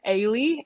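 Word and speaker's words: Eilidh: some practice there yeah like my sister's name's aylie and it's spelled e-i-l-i-d-h right yeah yeah so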